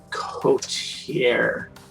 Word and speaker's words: coterie: out with the assisting the rest of my coterie Yes, you said it right.